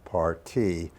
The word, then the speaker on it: parti: came up with a partie that I felt encompassed all of the aspects of the program. A partie, spelled P-A-R-T-I, but pronounced partie.